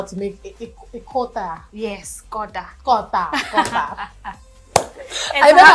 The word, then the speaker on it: Kota: I've learned how to make a kota. Yes. Did I pronounce it well? Kota.